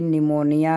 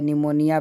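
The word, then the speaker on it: pneumonia: तो ऐसे ही सुनामी है, ऐसे ही निमोनिया है, निमोनिया PHE से शुरू होता है, PHNE है।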